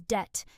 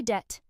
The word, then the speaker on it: debt: Many learners pronounce the B in this word, saying debt with a strong B sound. But the B is silent. The correct pronunciation is simply debt.